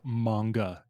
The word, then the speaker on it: manga: novels coloring fine it it's pronounced manga lb that's see I'm not a weeb so